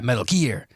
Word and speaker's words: Metal Gear: me Metal Gear right is that how you say it yeah Metal Gear there's like a special emphasis on gear Metal Gear Solid three